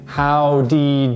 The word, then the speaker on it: how'd he: So whenever there's a did followed by a he, you can just say how'd he do it.